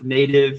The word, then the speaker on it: Knative: And if you want to be able to kind of port things around, then you'll use something like Knative, native, if you don't want to pronounce the K, which will allow you to essentially run serverless functions on top of something like Kubernetes.